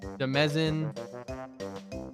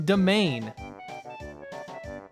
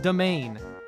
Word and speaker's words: demesne: We got people saying Demezin, Demesne, Demizin. It's fucking domain. This shit's pronounced domain. I saw this word the other day and I was like, how the fuck do you pronounce this? I looked it up and I was like, you're pulling my goddamn leg. This is domain.